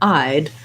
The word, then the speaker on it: I'd: little syllable there and it's actually one syllable two sounds the i sound and the d sound just like the word i'd like i eyed that